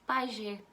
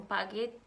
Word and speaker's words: Paget: tem uma doença que se chama Pajé é escrito assim Pajé no final sabem algumas pessoas falam Padre mas eu vou pronunciar ela para vocês conforme a gente ler tá gente pa g&t